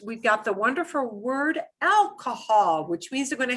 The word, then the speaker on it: alcohol: So here's how alcohol sounds.